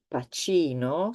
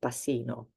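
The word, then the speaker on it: Pacino: CI think um about famous names like AL pachino C nobody has ever saw the S the uh this name and wanted to say Al pasino is CH CI CH also Leonardo da Vinci CI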